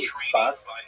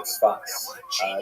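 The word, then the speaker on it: צפת: Israel city of Safed, pronounced in Hebrew Tzfat or Tzfat.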